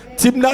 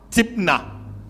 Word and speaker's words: Thimna: Timna s'écrit T-H-I-M-N-A. Timna.